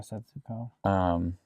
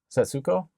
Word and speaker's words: Setsuko: Setsuko? That's all perfectly correct. Okay. But they never pronounce the su.